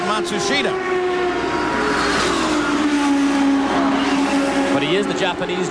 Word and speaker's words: Matsushita: of the Penske cars they've changed the pronunciation again they've given it to us four or five different ways now it seems that they have settled on mashusta the start of the year with Matsushita but he is the